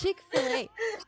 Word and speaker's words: Chick-fil-A: I said, oh, it's Chick-fil-A. And then she said, it's Chick-fil-A. Oh, so that's how you pronounce it.